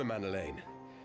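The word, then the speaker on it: Emmanellain: Come, Emanuelain. There's much to be done for Father and for Sir Emerick and for Ishgard. Emanolane. I've been saying his name wrong this entire time.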